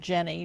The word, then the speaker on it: Geni: And then there's another platform called Geni, some pronounce it Jenny, Geni, which is One World Family Tree.